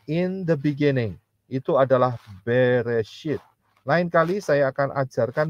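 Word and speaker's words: בראשית: bahasa Inggrisnya adalah in the beginning itu adalah beresit lain kali saya akan ajarkan mengenai kejadian 1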